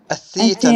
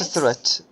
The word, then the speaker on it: theater: a CA a hotel a theater not a threat yes a theater a